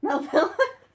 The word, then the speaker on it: Melville: Melville.